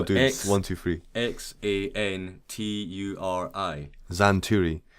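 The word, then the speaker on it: Xanturi: one two three x-a-n-t-u-r-i zan turi so now it looks like it should be spelled with a z exactly yeah yeah but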